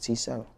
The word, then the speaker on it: T7: your stage name t7 the regular letter T and number seven T cell do people